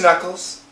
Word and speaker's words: knuckles: We have a K, but the K is silent.